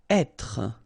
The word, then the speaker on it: être: Être. Okay, so remember that when you get this accent circonflexe here, you should really pronounce it openly.